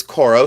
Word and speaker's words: Coro: This is cororo.